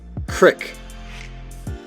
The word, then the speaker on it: creek: The majority of Americans can agree on the fact that the E in creek is pronounced like seek. However, 4% of people noted that they pronounced the E in creek, so it sounded like sit.